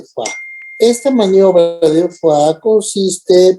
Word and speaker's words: Foix: maniobra de Foix, que se escribe así, Foix, pero es maniobra de Foix.